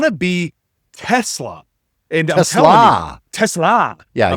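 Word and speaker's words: TeSlaa: Tesla. Yeah, you're putting the emphasis on the wrong syllable.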